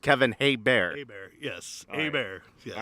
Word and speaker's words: Hebert: My last name is pronounced Hebert.